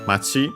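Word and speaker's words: 町: Then we have machi, town, which we've already seen. On its own, accent on the last syllable, not here because of the following no, which makes it unaccented.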